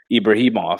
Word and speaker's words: Ibragimov: punches that's thrown his way how do you pronounce his last name? I'm so bad at it. Ibrahimov.